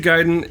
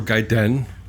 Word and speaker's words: Gaiden: But, uh, anyway, uh, so Ninja Giden is or Gaiden.